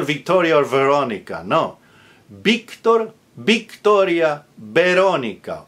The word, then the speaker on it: Victoria: Victor, Victoria, Veronica. All with a B like boy, spelled with a V, but pronounced with a hard B as in boy because it's initial.